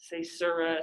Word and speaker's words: caesura: Caesura, caesura.